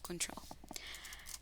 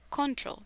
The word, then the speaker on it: control: La primera palabra a la que vamos a hacer una observación acá es control. Es muy fácil pensar que la palabra se va a pronunciar control, pero no. Vamos a decir control.